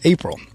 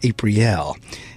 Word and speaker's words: Aprille: and I had been reading her name is April and she very quickly couldn't be corrected me into that's a pre l and I was sharing with her I appreciate